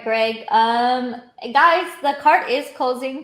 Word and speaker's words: Greig: It's Greig, Greig. So Greg, spelled like that.